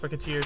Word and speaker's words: Recettear: or briquettes I guess cuz it's pronounced racketeer so racket and this ferry that's called tier and she's essentially uh